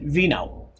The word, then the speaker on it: Vino: was it kept and I pronounce it vino just like wine vino and the Tia Simon like pee and swimming and he knew that